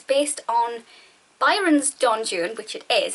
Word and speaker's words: Don Juan: actually not correct because it's based on Byron's John June which it is it's very clearly based on